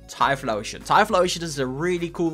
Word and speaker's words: Typhlosion: And then Typhlosion, not Explosion, Typhlosion.